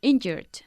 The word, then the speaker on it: injured: injured last Saturday injured injured emphasizing the first syllable injured he got injured okay